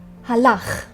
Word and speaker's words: Halach: Halach. Pay attention to the final sound. It's a little bit funny, but you will get used to it.